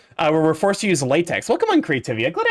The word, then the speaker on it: LaTeX: It's like how I believe the software is called LaTeX. But it's spelled latex.